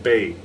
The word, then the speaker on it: bez: This, everybody in North America pronounces this a bez point, B-E-Z, but it's French. It should be pronounced bay. But to be consistent, we'll go ahead and call it a bez point, but it's really a bay point.